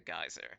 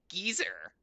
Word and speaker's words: geyser: Please don't monkey with the geyser. Don't peel taters with my razor. Oh, wait, I hate that. I hate that. It's pronounced geezer. It's pronounced geezer.